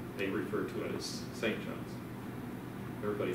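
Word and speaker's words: St. Johns: john's arizona why because they don't say it like that you say saint john's if you if you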